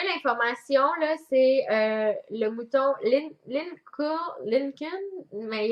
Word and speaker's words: Lincoln: Oui, j'ai trouvé l'information, là, c'est le mouton Lincoln, mais il y a un L avant le N, fait que je sais pas comment. Non, Lincoln. Lincoln, Ouais, pareil, Lincoln, ouais, le L C'est- est muet.